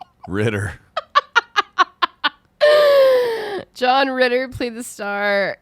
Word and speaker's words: Ritter: place his last name rhymes with knitter ritter john ritter played the